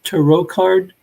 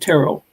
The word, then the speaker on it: tarot: at the show was to row card or is it taro um i don't really mind however you pronounce it i say tarot um i used to